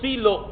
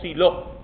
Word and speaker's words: Silo: santuario en un lugar llamado silo o siló se pronuncia de las dos maneras y allí una vez